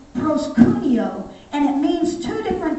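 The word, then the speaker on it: προσκυνέω: word worship in the greek there is is pronounced proscunio and it means two different things it means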